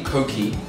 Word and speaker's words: Koki: This is actually Koki. Yeah, you pronounced it right. It's basically like C-O-K-I-E.